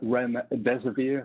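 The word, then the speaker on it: remdesivir: phishing domains with references to medicine medicines like REM dezer beer so that's how you pronounce it and chloroquine these are drugs that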